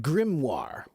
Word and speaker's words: grimoire: Do you know this word g r i m o i r e? It's pronounced grimmoire.